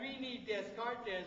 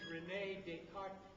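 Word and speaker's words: René Descartes: Now I say that Reini Descartes because that's the only way I can spell it. His name is Renee Deart, but I can't spell Deart. So I say Desart.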